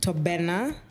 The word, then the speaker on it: Tobenna: Tobenna.